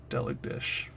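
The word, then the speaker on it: Deligdisch: Now, all I have to do is sound it out, one syllable at a time. Del, egg, dish. Delig dish.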